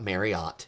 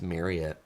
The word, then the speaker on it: Marriott: Okay, so first of all, Travel Check says, I did not say Marriott correctly. And you're right. It's not Marriott. It's Marriott.